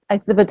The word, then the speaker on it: exhibit: 수 있는데 이때 이제 그즈 때문에 이거를 이제 너무 노골적으로 발음하시는 분들이 간혹 있어요. 우리말은 모든 자음과 모든 자음은 모음을 만나야지 발음이 나오죠. 그러니까 지읒만 있으면 우리가 발음하지 않아요. 이게 아가 붙어야 자가 되고 이가 붙어야 지가 되듯이 오가 붙어야 조가 되듯이 그 자음은 모음을 만나야지 이제 한 글자가 되는데 영어는 자음만 발음하는 경우가 많이 있거든요.